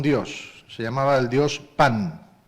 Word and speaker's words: Pan: Se llamaba el dios Pan, tal como suena, como el pan que comemos, se escribe igual, Pan.